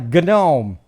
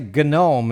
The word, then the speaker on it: GNOME: It's like GNOME. You're supposed to say GNOME and GNU instead of new and gnome.